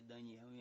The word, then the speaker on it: Daniel: fortalece falamos de Daniel a pronúncia de Daniel em hebraico a escreve do mesmo nome só tem que mudar pronúncia que nós falamos Daniel Mas eles pronunciam Daniele significa Deus é o